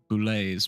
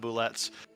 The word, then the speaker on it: boulette: Yeah, you pronounce the T's. Anyways, you're uncultured. It's fine. But if we're going to introduce him to our music, he needs to understand that it's called a boulet, and the T is silent.